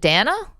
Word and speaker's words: Dana: So, so it's your name is D an A. Do you pronounce it Dana? Dana.